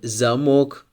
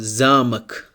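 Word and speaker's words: замок: it means Lo in the first word zamok here we have the stress on the letter O and look into the second example here we have zamak zamak here the stress is on letter A zamak it means cazel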